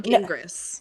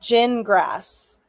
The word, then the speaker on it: Gingras: No, gin grass. No, I'm going to call him Gingras because it sounds ridiculous. Okay. And he does not deserve the courtesy of me remembering how to say his name correctly. Gin grass. Gin grass. Gin like you drink. Grass like you mow.